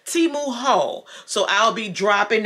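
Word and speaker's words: Temu: looking forward to that Teemu how review I was about to say it wrong timu Hall so I'll be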